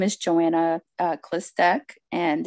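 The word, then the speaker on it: Chlystek: testimony okay well my name is Joanna uh clistec and it's spelled c-h-l-y-s like Sam t-e-k and you know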